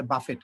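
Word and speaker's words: buffet: খেতে যাই, ঠিক আছে, অনেকে এটাকে বলে বাফেট, এটা বাফেট নেই, এটা হচ্ছে বুফে, শেষে টির কোনো উচ্চারণ নাই।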